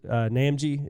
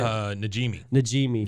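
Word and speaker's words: Najimy: I don't know how to pronounce her last name, but the lady that does Peggy's Namji, is that how you say it? Najimi.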